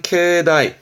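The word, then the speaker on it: 境内: 경란 얘기니까 그 경계선 안을 의미하는데 발음이 중요합니다 발음은 케다이 다입니다 요게 중요한 부분이요 케다이 다라는 건 경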